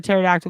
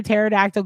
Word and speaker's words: pterodactyl: Why can't you hear a pterodactyl go to the bathroom? Because the P is silent, says Lily.